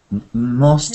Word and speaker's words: most: pronunciation m-o-s-t and p-e-r-s-o-n most is masters and masters we have to try to get an o sound like most most most most and the word